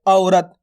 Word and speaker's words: औ: अब देखो दोस्तों, इसके उच्चारण में थोड़ा जोर लग रहा है औ। देखो जैसे अपन बोलते हैं औरत, औरत, औ औ करके बोलते हैं ना औरत, तो इस प्रकार से औ का उच्चारण किया जाता है।